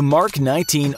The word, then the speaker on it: Mk-19: That path would eventually lead to the holiest of battlefield holies: the Mk-19 (narrator note: pronounced “mark”) automatic grenade launcher.